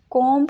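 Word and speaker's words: comb: एक चीज बतानी है कोम नहीं पढ़ेंगे बी हमारे पास यहां पे साइलेंट होगा इसको हम बोलेंगे कोम कोम ठीक है नेक्स्ट है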